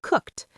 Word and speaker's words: cooked: And cook ends in a k sound too. So we say cooked. The e d is almost invisible.